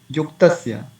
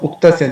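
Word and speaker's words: उक्तस्य: Sometimes you would say yuktasya instead of, you can see the cursor, instead of uktasya they say yuktasya, because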